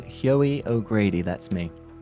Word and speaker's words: Hyoie: So it's pronounced Hoey and it's the sound that the thing that trips people up is the beginning, right?